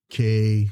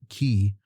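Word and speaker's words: caye: M and all their islands are like K something or and I was pronouncing it K and they said no you pronounce it key.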